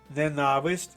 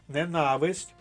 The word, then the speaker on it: ненависть: сміх з журбою кома ненависть Зверніть увагу на наголос ненависть тере З любов'ю тире